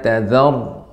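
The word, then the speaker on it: تَذَرْ: Ya, kemudian nuhur rabbi la tadhar, ra-nya tebal.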